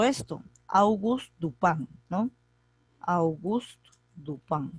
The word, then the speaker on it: Dupin: august tu pan august duplán dupin se escribe pero se pronuncia el pan está en francés augusto el lugar del